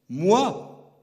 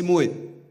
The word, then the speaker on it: moi: de Paris qui prononçait moi a pris le pouvoir et il a imposé moi. Cette chose étonnante, on écrit O-I et on prononce W-A. Moi.